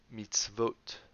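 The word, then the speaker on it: מִצְוֹת: So this word is pronounced matzot. And this word here is pronounced mitzvot. Here it's vo, and here it's o. So vo and o.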